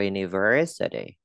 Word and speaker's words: university: What is your university? My univer, phải là univer, con lưỡi cái chữ ver và đọc to liền chữ ver trọng âm.